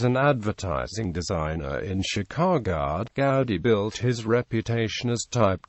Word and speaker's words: Goudy: However, I find that occasionally a stranger pronounces the word with ours long O in go, sometimes as our in soup, or goo, and less frequently with the ours oo in good. I retained the original pronunciation with ours in out."